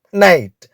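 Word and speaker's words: knight: பொருள் கே எஐஜிஹடி நைட் இந்த வார்த்தையில் முதலில் உள்ள கே என்ற எழுத்தை நாம் உச்சரிக்க கூடாது. இந்த கே எஐஜிஹடி இந்த வார்த்தையினுடைய உச்சரிப்பும் நைட்.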